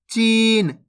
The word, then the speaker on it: चीन: बड़ी ई की मात्रा तो अपन च को कैसे पढ़ेंगे ची न तो मिलके बन जाएगा चीन दोस्तों इसी तरीके से पढ़ना है कैसे चीन ऐसे नहीं पढ़ना चीन अगर आप चीन पढ़ोगे तो इस प्रकार से छोटी ई की मात्रा का उच्चारण हो जाएगा जबकि अपन बड़ी ई